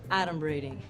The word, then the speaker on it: adumbrating: Like, first of all, it's pronounced adumbrating.